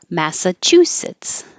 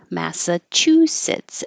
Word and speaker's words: Massachusetts: far into May so Massachusetts Massachusetts and if it helps you to remember it as Chu actually chewing and sits that could be helpful Massachusetts alcoholism start with